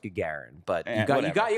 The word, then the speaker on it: Gagarin: win all the cups it's pronounced Gagarin but got you got